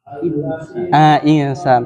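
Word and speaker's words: إنسان: di kata Al diperhatikan kata alinsan itu Ain atau Hamzah insan i-nya insan Innal Hamzah berarti dibacanya Insan terus illadina amanu atau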